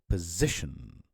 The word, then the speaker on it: position: And the other one would be position. Position. So it's not position, it's position. So it's a schwa sound.